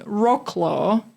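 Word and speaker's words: Wrocław: So for uh Polish pe our Polish listeners, please don't listen because I'm saying rockclaw because that's how a lot of people in English-speaking countries know this town.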